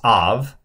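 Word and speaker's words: אב: Now you don't pronounce this shva because it's following a short patak. So it's av.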